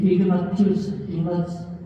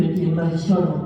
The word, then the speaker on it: 이그나티우스: 안토니 감독이 이그나티우스 천주교 이그나시오라고 발음합니다만 이그나티우스 안토니 감독이었는데 첫 번째 가지고 로마로 합성되면서 7편 편지를 썼어요.